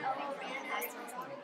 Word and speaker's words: Uranus: Chaos, the Earth goddess Gaia, was created as well as the sky god called Uranus, pronounced Ouranus, like the planet.